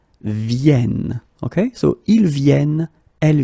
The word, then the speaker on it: viennent: and the last one, because you've got this double N here, you need to pronounce this like and that's the reason why you should pronounce it viennent, viennent, okay?